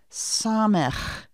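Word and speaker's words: ס: Next comes our letter Samech. The end of that name of the letter has that chet sound. Samech. Repeat after me. Samech. Note that the sound of the Samech letter is the s sound, the s sound.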